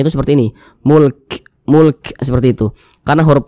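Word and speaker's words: مُلْك: hul Mulk kemudian ini kalau kita berwakaf di huruf Kaf kita baca Mulk Jangan dibaca mulka jangan huruf kafnya kita sukunkan atau kita matikan Kenapa begitu Jadi kalau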